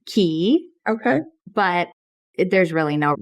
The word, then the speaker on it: Cay: I think from like a marketing standpoint, from a brand standpoint, we're pronouncing it Key.